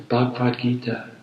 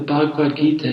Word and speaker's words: Bhagavad Gita: an explanation because I the information I gave you was the pronunciation was not correct so introduction Redux the next thing I wanted to talk about is I mentioned the bhagwat gita the Bhagavad Gita is